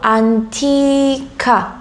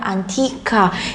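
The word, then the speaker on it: antica: 에어를 들어보시면 안 끼 까 라고 하지 않고 안티카 얘도 안티 땋아 1 안티카 약간 좀 아 우리나라의 아 그 쌍 장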